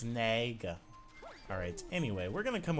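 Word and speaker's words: Nega: Everyone's like, it's not Eggman Nigga. I'm just like, hello? Like, you gotta chill. That's how I pronounce it, I guess. I don't know. But people are like, it's Naga.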